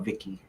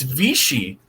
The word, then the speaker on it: Vichy: I always call it Vicky. All right, switching to Roku. You call it Vicky? Yeah. It's CH, dude. I've never heard it pronounced. It's Vichy.